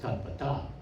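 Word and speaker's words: tattvataḥ: the AH after it, you don't have to go aha, because that's not how that's pronounced. It's just tattvata. But to keep the meter, there's the tattvataha at the end.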